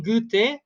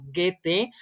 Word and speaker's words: Goethe: En prosa está un fragmento de Johann Wolfgang von Goethe, o Goethe, como quieran pronunciarlo, que es el gran